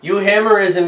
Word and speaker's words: euhemerism: it's got the u it's got the y o u which is from the greek you hammerism is the idea that